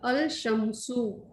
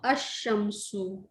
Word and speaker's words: الشمس: Lam of al is assimilated to the solar letter. Example, al-shamsu, the sun, is pronounced ash-shamsu. Ash-shamsu.